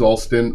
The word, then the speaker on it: Altin: Altin Altin godold um whenever people ask me how to pronounce my name I say if they're over a certain age of say hey it's like the um there used to be a baseball manager his last name was Altin um there's a there's